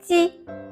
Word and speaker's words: 鸡: It is a sound formed by the front of tongue against the front part of your hard palate. As the picture shows. Let's start our first one. 鸡.